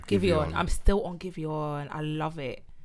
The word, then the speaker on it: Giveon: How do you pronounce his name? Giveon.